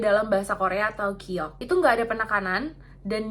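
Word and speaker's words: 기역: Ini tuh mirip dengan huruf G di bahasa Indonesia kan. Cuman beda cara pelafalannya. Kalau G dalam bahasa Indonesia itu tegas kan dan jelas. Terus ada penekanan di sini. G, G, gitu. Atau ga, ga.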